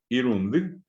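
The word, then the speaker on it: irundy: Y en guaraní, si vamos a pronunciar correctamente, es iru, indi es la sílaba. Ndi. Irundi. Esa es la forma en que en guaraní se silabea.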